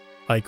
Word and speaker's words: Ike: Ike rhymes with bike.